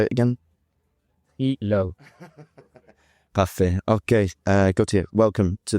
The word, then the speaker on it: Trilobe: It's a Trilobe. Beautiful, very good. Not Trilobe, definitely say it again. Trilobe.